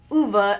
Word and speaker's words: Ove: and I was specifically told that it is pronounced UA and not o as I originally thought so I want to make sure that I say the correct name UA is this old crotchety man who believes that